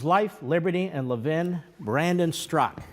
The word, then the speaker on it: Straka: Liberty and Levin Brandon struck how are you my friend great to be here it's spelled Straka but it's struck is that correct you nailed it so